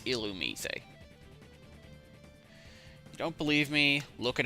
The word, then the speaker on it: Illumise: and I have actually read up on the pronunciation it's illumise don't believe me look it up yourself from